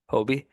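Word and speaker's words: Hoby: the bullpen right now so we obviously have hobby that's how you pronounce it right I always feel like I mess it up Hobie Hobie Hobie okay good I know Jack's a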